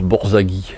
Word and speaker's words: Borzage: Alors normalement on prononce Borzaghi, mais moi je ne sais pas trop comment.